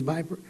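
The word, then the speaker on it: VIPR: the effectiveness of the Viper uh which is a little strange pronunciation but it means Viper uh it means VI PR R but it sounds like the snake uh in August uh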